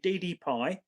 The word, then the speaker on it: DDPAI: Now, if you go on the DD Pi website, so I'll spell that, it's DDPAI, DD Pi, and it's the Z90 I've got.